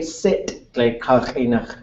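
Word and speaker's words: sít': spell it for Yan s High toned i t apostrophe now another word t u x High toned o o d z I sit that's way sit sit is Glacier to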